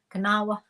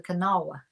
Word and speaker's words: Kanawha: Kanawha River anybody is always trying to say kanawa they're trying to say kanawa glass it's called the Kanawha River that's the that's how you pronounce it